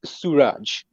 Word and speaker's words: Suraj: what do you got sarah all right sorry am i saying your name wrong yeah it's suraj siraj is that good okay yeah that's great